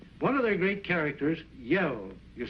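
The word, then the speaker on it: Yehl: was telling was one of their great characters yel you spell that ye h l up in the Northwest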